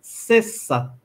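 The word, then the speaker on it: sesa: Isso significa que o S em Esperanto tem sempre o seu próprio som de S, ou seja, S ou C, e nunca o som de Z, mesmo entre vogais. Cessa, sexto, em português.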